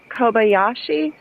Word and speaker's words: Kobayashi: think I'm saying her last name right Co Kobayashi yeah Koba yeah yeah kobashi you said it right oh wait metam mom